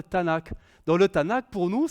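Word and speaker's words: Tanakh: pas ça comme ça ils appellent ça le Tanak c'est le Tanak les trois les trois consonnes vu que les voyelles ne s'écrivent pas en hébreu mais elle se prononce TNK c'est un pronomçable mais oralement on dira le Tanak dans le Tanak pour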